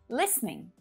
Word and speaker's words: listening: words like this one listening so it's perfectly okay to use three syllables listening but to make things quick and simple native speakers will often reduce it down to just two syllables listening listening it's the